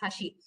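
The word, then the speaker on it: 箸: For example, the word bridge is pronounced as hashi, and the chopsticks is also pronounced as hashi. The pronunciation may be same, but there will be a slight intonation while speaking.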